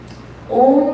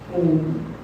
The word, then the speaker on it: Om: So when we're saying Om, Om has 3 syllables, right? What are they? Don't tell me you all don't know that. Well, then you have to say it with me. What syllables are you saying there? What sound of which letters do you hear there? I hear a prompter in the front here. Say it loudly. A-U-M. Yeah, it's not O-M.